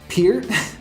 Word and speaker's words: Peart: on guitar, Geddy Lee on bass, and Neil Peart, did I pronounce that right this time?